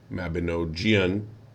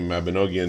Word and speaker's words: Mabinogion: did the research for how to say Mabinoian because I've been saying Mabonogian in my head for uh 30 years